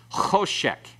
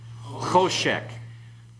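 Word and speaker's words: חשך: Choshek. Everyone? Choshek. Choshek, you'll notice here, the holum coincides with the dot over the right-hand horn of the sheen.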